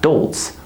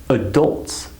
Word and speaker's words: adults: many students of mine When I say this word, adults, they say to me, what's dolts? What does dolts mean? And I say, no, not dolts, adults. That sound is said so fast that they can't hear it. They think I'm saying dolts, but I'm not. I'm saying adults, adults.